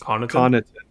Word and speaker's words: Connaughton: It's just Connaughton.